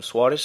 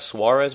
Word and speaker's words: Soares: of tournament Everton um Soares I think his name is not Suarez well you know the Portuguese pronunciation ever since Wallisch or